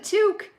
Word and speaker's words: toque: call a beanie a toque yeah they don't nobody else i think calls it a two cup with an essence it's a toque it's a knitted hat